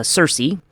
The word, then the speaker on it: Circe: And the subject of this week's talk is going to be Kirk. Uh sometimes pronounced in sort of our western parliament as Cersei.